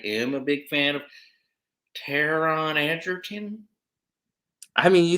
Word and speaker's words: Taron: I was a little interested because I am a big fan of Taron Egerton.